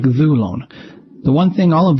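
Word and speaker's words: δοῦλον: And there are some that are born with a circumflex on their penult, like dhulon.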